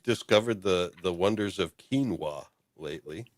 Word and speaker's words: quinoa: Uh, what is quinoa? I used to call it quona.